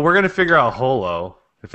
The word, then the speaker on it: Holo: same way me and i also say babble and i say holo you mean babel and hollow it's hollow i actually do believe